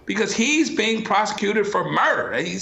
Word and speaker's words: Murdaugh: Yeah, murder spelled M-U-R-D-A-H, I think is how they spell it there.